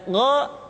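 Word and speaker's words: غ: Diucapkan seperti kita mengucapkan huruf Kha, yaitu diucapkan dari pangkal tenggorokan kita. Yang membedakannya adalah Kha mengalir nafas dan Gha tidak mengalir nafas.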